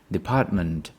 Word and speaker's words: department: show you that department the stress syllable is the second one the stress is on the second syllable you know the second syllable Department department and then once you